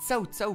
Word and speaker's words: Cao Cao: Rappelle-toi, Rems, on dit tsao pour Cao Cao. Non, moi je dis Cao Cao. Je prononce en mode brésilien, moi.